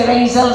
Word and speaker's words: Razel: If you pronounce the razor, Razel. Ayun po, may letter Z.